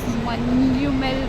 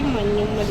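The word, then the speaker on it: മഞ്ഞുമ്മൽ: What it is pronounced? Manyummal boys. Manjumel boys. Yeah. Tamilians also used to say Manjummal boys. Manjumel. It's actually Manyummal boys.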